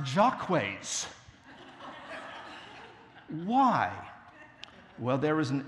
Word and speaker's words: Jacques: a very important character called Jacques but it's pronounced Jacques why well there was an ancient venerable English